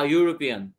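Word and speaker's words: European: আগে এন N orange ইউরোপিয়ান ইউরোপিয়ান হচ্ছে ইউ এর মত উচ্চারণ হচ্ছে ওয়াই মানে ইয়া সাউন্ড এটা হচ্ছে এ হবে ইউ আ ইউরোপিয়ান তারপর হোটেল হোটেল আগে হবে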